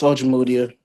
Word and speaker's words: Ojimodia: And it's Ojimodia.